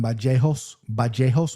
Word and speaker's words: Vallejos: This is how he pronounces it, Kevin Vallejos with the B.